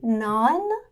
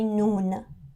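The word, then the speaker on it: نان: So we have here the delicious barbari, naan. In colloquial Persian, we say noon. So first we write the official version, naan, ne in the beginning.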